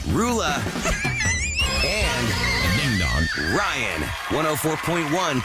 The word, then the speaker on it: Roula: How the heck do you pronounce this woman's name? Roula.